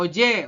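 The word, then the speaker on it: 어제: Koreanya adalah mokyo mokil kalau Oje Oje itu maknanya kemarin kalau onje kan ada ni di sini nih on misalkan on J onj itu artinya kapan kalau o j itu kemarin beda ya jangan sampai terkecol pokoknya ada perbedaan satu huruf onj dan OJ kalau OJ itu kemarin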